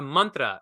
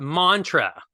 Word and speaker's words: mantra: the right Indian way the Indian way to say it properly not appropriated the appreciative way if you're gonna appreciate Indian culture and language it's Mantra right Mantra yantra Tantra right not mantra so okay we got